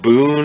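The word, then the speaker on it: Bune: like we heard i guess we're going with boone as the pronunciation for b-u-n-e i find it easier to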